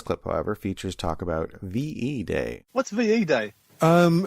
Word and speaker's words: VE Day: however features talk about ve day what's va day um v day uh v e day to pronounce it correctly a victory in europe